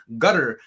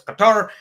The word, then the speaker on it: Qatar: Did you know there's four different ways to say Cutter? Like the locals say Gutter, but then if it's formal, it's Qatar.